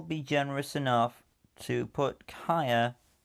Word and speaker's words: Kaya: generous enough to put kaya not kaia sidra right behind in